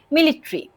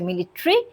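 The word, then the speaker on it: military: মিলিট্রি। ওকে। এটা দুইভাবে উচ্চারণ করা যায়। একটা হচ্ছে মিলিট্রি আরেকটা হচ্ছে মিলিটারি। ওকে? দুটোই কারেক্ট। তাহলে মিলিট্রি কালেক্টিভ ফোর্স বোঝালে তখন প্লুরাল ভার্ব আসতে পারে।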